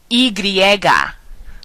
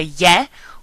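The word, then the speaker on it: y griega: Latina Latin I basically the letter Y can also be pronounced IGA which means Greek I essentially so to say why in Spanish you can either say ye or IGA the letter V right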